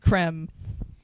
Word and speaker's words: Creme: It's spelt cream. They call it creme. Is it with like the two E's? It's Nivea creme. It's EME. So, Yeah. hold up. So that is pronounced creme. Yeah. One of these has a little hat on it, so you know. An accent. Goo. Creme. Or is Like it- creme fraiche. Yeah, like creme fraiche.